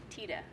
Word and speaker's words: Tiede: that for 15 years, most people have been saying his name wrong. So I heard when you introduced yourself to Lynn, you said Tiede.